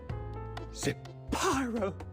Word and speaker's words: Zapyro: Zapyro, 3 syllables of pure poetry.